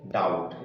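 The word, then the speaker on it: doubt: कुछ एग्जांपल देखते हैं ये लिखा है डाउट इसको किया जाता है बी के बाद क्या ए रहा है यहां पर टी ए रहा है इसलिए बी क्या है यहां पर साइलेंट लेटर है तो इसका प्रोसीजर क्या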